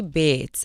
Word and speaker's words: Beetz: well, Zazie Beetz, actually. Beetz. It's kind of like, it's because it's German. So if you think about it, kind of like how we pronounce Beethoven, with the two E's.